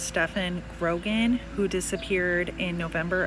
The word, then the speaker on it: Stephon: tina dale jr and i believe it's pronounced stefan grogan who disappeared in